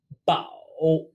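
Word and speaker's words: 包: sway and lastly bow bow pronounced very close to foul meaning to wrap with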